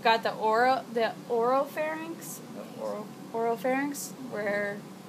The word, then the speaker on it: pharynx: right you've got your pharynx and if you think it's actually spelled with the ph but it sounds like it starts with an f right pharynx so think it's